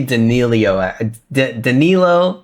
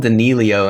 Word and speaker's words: Danilo: His name used to be Danilo, I think, in the chat, and I used to call him Danilio, and he never corrected me. I was saying it wrong the whole time.